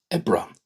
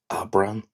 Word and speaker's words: Aibreán: April, Aibreán. Aibreán. Aibreán. I've heard it pronounced Ab-rán, Ab-rán, and Ab-rin, Ab-rin.